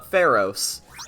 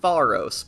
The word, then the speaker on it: Pharos: the Dark Hour uh pheros me personally I prefer to pronounce it faros because that just seems like correct to me but you know what if he says Pharos we'll go Pharos who